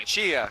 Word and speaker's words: Puccia: We finally found in the middle of the aisle, pronounce the last name for me. Puccia.